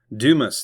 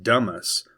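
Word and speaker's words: Dumas: Dumis, Texas. It is not pronounced Dumis or Duma.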